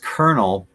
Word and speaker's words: colonel: mean why isn't there it's pronounced kernel so why isn't there an r in there who's the who's the genius that said we're gonna call it kernel but we're not going to put an r in the word just